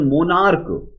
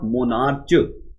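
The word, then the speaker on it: monarch: Stomach, we pronounce this one मोनार्क, इट्स नॉट मोनार्च।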